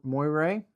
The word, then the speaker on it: Moirai: And I like this one probably the best of the three, I think and this is Moy Moy Moira I think I've decided it's pronounced and it is a